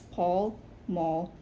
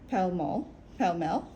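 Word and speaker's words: Pall Mall: hard to tell why it's Paul Maul but pel pel I'm pretty sure it's supposed to rhyme with tell muscle muscular gale iron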